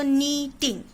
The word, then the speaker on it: knitting: Okay, K is silent, you can say. Okay, so knitting.